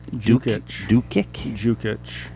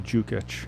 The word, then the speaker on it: Dukic: Jukic. D-U-D-U-K-I-C. You could spell it all you want. It's still Jukic.